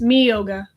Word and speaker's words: Miyoga: Not like, Ryoga. oh, I'm wrong. It's Miyoga. Oh, it's Miyoga? Miyoga. I kept thinking it was Ryoga. Nope, Miyoga.